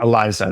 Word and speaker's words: Eliza: it name was Eliza Elisa I don't know how do you pronounce that is it with is with a z Eliza Eliza yeah Eliza much better names than Chan GPT or